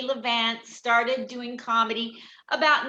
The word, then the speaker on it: Levant: Do you pronounce it Levant or Levant? Levant.